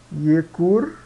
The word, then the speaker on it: iecur: Ianua, Iecur, Iecur e Justus, Justus, tá? Então sempre quando tiver um J é I, tá?